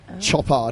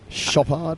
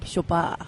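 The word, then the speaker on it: Chopard: almost like floating diamonds shop art how do you say that shabbat shabbat ah i know that's your Belgian French side coming I think its range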